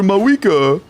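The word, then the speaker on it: Mavuika: Did you know the V in Mavwika is silent? Actually, you're probably correct, but I'm not going to do that. But Limbo, everybody that voice acts for the game calls her Mawika.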